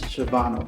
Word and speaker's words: Shavonna: So first off, thank you for saying my name correctly. A lot of people jack up my name, but it is Shavonna.